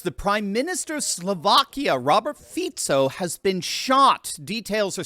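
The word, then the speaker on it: Fico: fito's shooting and by the way uh it's fito you're going to hear Foo a lot a lot of commentators mispronounce his name because it's spelled fic Co but it is pronounced fito we've done a number of videos on him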